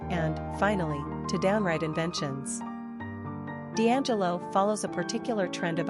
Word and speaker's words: Deangelo: Number of syllables, 4. Ranking popularity, 892. Pronunciation, Deangelo.